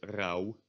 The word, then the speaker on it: rauw: Only at the end of words, like in the word rauw, which means raw. Then you do pronounce it as a w.